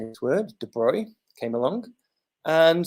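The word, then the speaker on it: de Broglie: of symmetry and then uh lee de bruy came along so this is how you say this word de bruy came along and said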